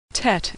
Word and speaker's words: Tet: luck in Scottish Tet Tet is pronounced T as in tango Tet good is pronounced